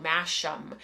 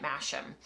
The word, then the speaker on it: Masham: When we first started talking about it, I think I pronounced it on the show Masham, and I've heard people in North America calling it Masham.